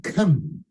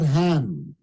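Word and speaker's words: Ham: of the seed of come notice I said come not him because King James did not pronounce the name correctly because in Hebrew it's like from the back of the throat come okay according to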